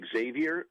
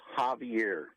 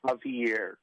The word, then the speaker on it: Xavier: Becerra, you call him Xavier Becerra? His name is Javier. It's Javier, and that's how it's pronounced.